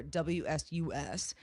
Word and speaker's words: WSUS: so w first of all she she she pronounced it wsus it's it it should be pronounced W sus